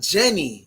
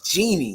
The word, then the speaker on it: Jeannie: here's the thing though it's not jenny it's jeannie correct oh wow